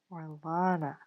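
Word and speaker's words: Orlana: Uh, you guys have been pronouncing my name wrong for a while. It's Orina. Orina. Orina with an A after the after the L. Or Lana.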